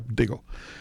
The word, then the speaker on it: Deagle: Deagle. Did I pronounce right? Yeah, Deagle.